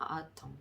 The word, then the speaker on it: autumn: 여기서는 autumn 이렇게 읽어주시면 되고, 여기서 포인트는 뭐다? M 뒤에 N이 나왔을 경우에는 N은 묵음인 경우가 있다.